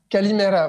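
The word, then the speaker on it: Καλημέρα: Kalimera. Kalimera, voilà. Je l'ai prononcé correctement.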